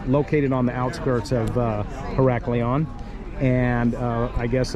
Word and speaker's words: Heraklion: Today's port is Heraklion.